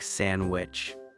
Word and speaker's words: sandwich: And even the humble sandwich, many people don't pronounce the D. It's more like sandwich.